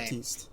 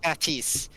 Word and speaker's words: Baptiste: earlier, Baptiste, Pronounce his name. Baptiste. Baptiste.